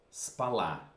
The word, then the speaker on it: спала: Она спала. Attention. Я спала. So the accent, the stress will move from the first to the second syllable.